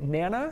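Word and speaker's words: Nanna: Am I pronouncing this right? Nana?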